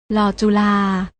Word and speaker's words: ฬ: นี้ ค่ะ รอ เรือ ส่วน พยัญชนะ ตัว ที่ 2 และ 3 อ่าน ออก เสียง โดย ไม่ ต้อง กระดก ลิ้น อ่าน ว่า ลอ ลิง กับ เรา จุฬา น้อง ๆ อ่าน ออก